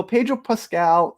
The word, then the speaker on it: Pedro Pascal: So Pedro Pascal, that's how you say his name, he plays